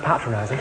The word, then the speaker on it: patronizing: he thought I was patronizing I said luy you'll find that's pronounced patronizing it means when you